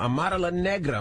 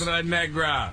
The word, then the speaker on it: Amara La Negra: Now, Amara La Negra will be joining us this morning. Of course. Amara Negra. What is wrong with y'all? That's not how you say it. Amara La Negra.